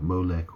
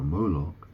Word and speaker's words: Molech: apparently molok is well Molech or molok it's it can be pronounced both ways but um Moses was